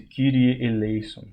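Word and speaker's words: Κύριε ἐλέησον: com um som e a pronúncia bizantina que é mais a mais próxima do grego moderno hoje por isso que se disse kirie Elon kirie Elon que é Deus misericorde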